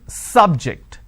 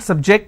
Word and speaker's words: subject: so I say bio biology is an interesting subject I'm I'm stressing on the first syllable okay now I'm using another example please don't subject the students to any tests so here my stress has moved to the second syllable for example when I